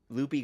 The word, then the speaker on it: Lupe: It's They say Loopy and they ask her how to pronounce it and it's always Loopy. Loopy. Wow. That's what they Yeah, that's what she goes by because it's L O P Y. No E.